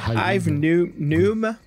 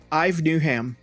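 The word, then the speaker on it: Yves Newnham: Alors ça se prononce Yves aussi en anglais ? Moi, je dirais Ive. Ive, oui. Comme Ive Newham. Alors, N-E-W-N-H-A-M. Newham. Ive Newham.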